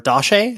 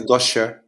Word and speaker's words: Dossche: correct right yes yeah dashe is that how you say it yeah it's pretty good yeah you could say uh Dosha Joshua okay yeah yeah